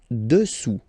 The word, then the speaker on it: dessous: Final S not pronounced. Dessus. Dessus. Dessus. Dessous.